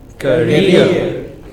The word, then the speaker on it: career: career, What is this? mountaineer, All of these words ending in ERE or EER take stress on the final syllable.